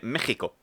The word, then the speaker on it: México: Curiosidad lingüística, Texas y México siempre se han pronunciado con J, pero se escriben con X porque antiguamente la X se leía como J porque venía de la letra griega J, que es la X.